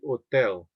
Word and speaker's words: hotel: The H is silent, so it would be hotel.